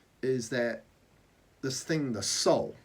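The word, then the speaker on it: Sol: S-O-L, but pronounced soul.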